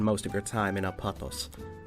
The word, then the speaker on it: Apotos: places for yourself apatos or as the locals pronounce it apatos is the country of